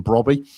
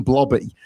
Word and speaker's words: Brobby: I mispronounced the name of Sunderland striker Brian Brobby, and I said Brian Blobby, and that made me laugh thinking of Mr.